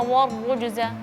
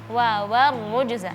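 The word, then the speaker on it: وَالرُّجْزَ: Jadi waw di sini seharusnya tipis wa. Terus setelahnya ada ro yang tebal. Jadi jangan sampai bacanya warrujza. Warrujza ya. Jadi diperhatikan huruf tipis yang sebelum huruf ro konsisten, yang tipis tetap tipis, yang tebal tetap tebal.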